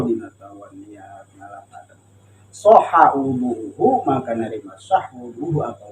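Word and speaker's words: وضوء: Artinya kalau dibaca wadu itu namanya nama air. Nama air. Tapi kalau dibacanya wudu itu adalah ismul lil fi'li. Itu adalah nama untuk satu pekerjaan.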